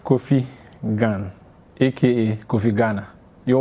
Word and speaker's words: Kofi: And then Kofi is Kofi.